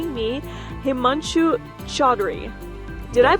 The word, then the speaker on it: Himanshu Chaudhry: My name is and today we are in Chicago here for the summer conference and joining me Himanchu Chadri. Did I pronounce this correctly?